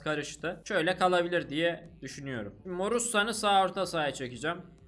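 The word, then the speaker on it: Moruțan: Bu arada yani bir kısım Morussan diye okuyor. Bir kısım hala Morutan diyor. Muhtemelen şu TN'nin altında bir tane çizgi var ya. O çizgiden dolayı Morussan diye okunuyor.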